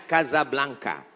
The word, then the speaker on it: Casablanca: kuliah nama negaranya Maroko ibukotanya tulisannya Casablanca cara bacanya Kasablanka Kaza artinya rumah Blanca artinya putih Kasablanka rumah warna putih bahasa Arabnya adarol